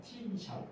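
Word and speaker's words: תִּמְשֹׁל: 너는 죄를 다스릴지니라 하는 이 표현이 원어에서 팀샬이라는 그런 발음이 납니다. 팀샬 무슨 말이냐면 팀샬을 통해서 하나님께서 말씀하시는 것은 너는 죄를 잘 다스리라는 거예요.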